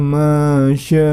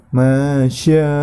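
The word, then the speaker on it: ما شاء الله: Ya, yang perlu diperhatikan di ayat yang ke-7 ini, masyaallah. Nah, di situ terdapat hukum bacaan mad wajib muttasil, maka dibacanya 5 harokat. Masya, seperti itu.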